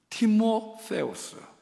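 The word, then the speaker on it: Τιμόθεος: 그 중에 가장 예뻐했던 제자가 누구냐면 디모데입니다. 원래 발음은 티모세우스, 하나님을 높이는 사람, 그런 제자를 만들었어요.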